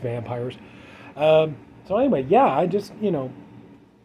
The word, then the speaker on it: Vampyres: It, yeah, it's pronounced Vampyres. I was kind of stunned. I thought it was pronounced Vampyres because of the Y. But anyway, yeah, it's just Vampyres.